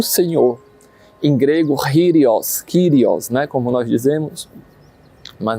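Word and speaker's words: κύριος: Em grego, Kyrios, né, como nós dizemos, mas na verdade o K em grego se pronuncia como um gutural, né, um Kyrios, né?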